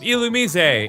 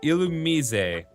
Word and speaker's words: Illumise: Oh my god, it's an Illumise, and it is pronounced exactly like that. It is not Illumise. To firmly establish, it is Illumise.